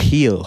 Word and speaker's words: Gil: Heel, I Heel, think. yeah. As a Spaniard, I think you're supposed to pronounce it. Either or.